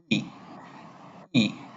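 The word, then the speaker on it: い: হ্যাঁ, তো এর উচ্চারণটা হবে কি হ্রস্ব এর মতো। আমরা উচ্চারণটা এভাবে করবো যে, আমার সাথে উচ্চারণ করুন, ই ই। আমরা উচ্চারণটা ই ই এর মতো করে করব।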